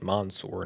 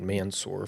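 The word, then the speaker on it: Mansoor: I think we can say pretty confidently that Mansour Delane, by the way, it's pronounced Monsour, not not Mansour for for um for those wondering.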